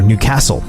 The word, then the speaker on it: Newcastle: for a little bit, or Newcastle, as people pronounce it properly, with the emphasis on the right syllable, Newcastle.